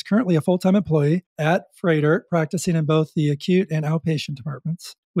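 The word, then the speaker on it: Froedtert: Jenna is currently an occupational therapist at Freidert. I had to learn a couple times how to pronounce Freidert. If you look at the spelling, it's not like it sounds.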